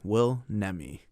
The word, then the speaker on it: Will Nemi: uh how how would you prefer your name pronounced will's fine nemi will nemi and that's your imdb name is that the